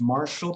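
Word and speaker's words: Marshel: you right now is um i think it's marshall but it's spelt differently she's on with linkedin okay i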